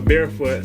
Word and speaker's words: BearfootX: So you don't pronounce the X because the X is just a variable of the unknown in the universe.